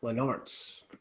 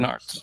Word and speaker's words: Lenaerts: Lenaerts. That's not what you said. Lenaerts. Yes, it's Dutch. That. Yeah, it's a Dutch last name. So he's like forget the E.